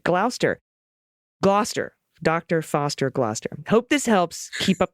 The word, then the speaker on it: Gloucester: a mnemonic nursery rhyme used to teach the generations of English school children how to pronounce glister Dr Foster went to Gloucester okay Gloster in a shower of